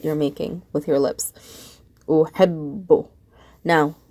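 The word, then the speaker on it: أحب: Uhibbu. Now, the second time I pronounce the ba, I'm pronouncing it bu. So I put a dhamma on it. Uhibbu.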